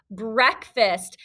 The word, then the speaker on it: breakfast: a compound word so this is the word break but when we say breakfast it just sounds like a short s sound break fast but it's a trick